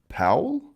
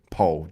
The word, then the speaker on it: Powell: Is it pronounced Powell? Not Pole? Pole.